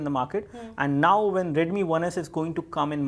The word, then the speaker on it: Redmi: about the xiaomi Mi uh the the xiaomi red Mi 1s did I get that right so it is